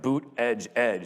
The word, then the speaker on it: Buttigieg: All right, so there's this guy, Pete Buttigieg, and I had to Google how to pronounce his name because I just did not know. But when you go to his campaign headquarters, like Boot Edge Edge is written on the wall pretty big, so